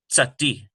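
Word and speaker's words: צדי: We have tsati, tsati. There it is written out for you. It's more like a TS sound, as in the English word nuts, tsati.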